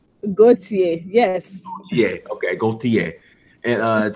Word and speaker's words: Gauthier: It's Gauthier, correct? Like the ER is silent, correct? Gauthier, yes.